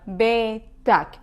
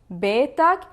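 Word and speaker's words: بيتَك: are telling him your, you will say ak, like betak. If you are talking to a woman, you will end it with ek, like betek.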